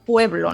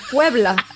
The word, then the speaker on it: Puebla: pueblo no ha escuchado cómo se dice puebla con acento y de hecho muchas veces así como que me suena y yo no no te suena pueblo no puebla tal vez por eso